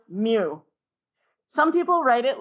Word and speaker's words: mu: is the Greek letter Mew pronounced like a little cat okay now many people have troubles writing the letter mu some people write it